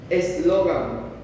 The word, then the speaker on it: eslogan: Por ejemplo, eslogan. Eslogan, ¿dónde carga la voz? ¿En la A?